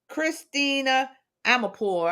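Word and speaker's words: Christiane Amanpour: Now, during a recent CNN interview with Christina Amanpour, I think that's how you say it.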